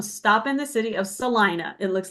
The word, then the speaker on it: Salina: always tell them stop in the city of Salina. It looks like Selena, but it's Okay. pronounced Salina.